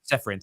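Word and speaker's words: Čeferin: UEFA president Alexander, I think how's it pronounced? Is it Seferin? Seferin.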